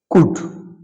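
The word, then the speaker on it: could: Next, কুড, খুড, এটা অনেকে খুড বলে, তো কুড এখানে এল উইল বি সাইলেন্ট।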